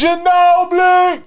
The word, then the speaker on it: Ginobili: Ginobili! Right? You got to say it like that.